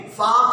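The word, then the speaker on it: folk: माने परिया होती हैं, फाक मानी लोग होता है, यफ ओ एल के, यफ ओ एल के, फाक मानी लोग, एल साइलेंट है, कौन साइलेंट है एल, फाक मानी होता क्या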